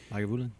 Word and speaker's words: Lagavulin: And it was the 16-year Lagavulin? Is that how you pronounce it? That's right. Lagavulin? Lagavulin. Yeah, I like that.